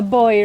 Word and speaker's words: buoy: A boy, right? Yeah. A boy. A boy with a U. Yes. I pronounce it the the the British way.